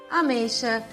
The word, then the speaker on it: ameixa: nas palavras primeira dica usamos a letra x com som de ch após ditongos ameixa peixe caixa e após a sílaba